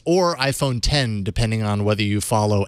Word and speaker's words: iPhone X: I'm gonna call it I'm gonna call it iPhone 10 even though there hasn't been a nine and